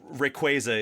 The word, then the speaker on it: Rayquaza: mythical Pokemon that Celabe Celabe, Celabi, uh, Rayquaza, Rayquaza, whatever. It's tomato tomato. Uh, although Rayquaza is the official pronunciation I learned from Sarah Natenny when she came on the podcast.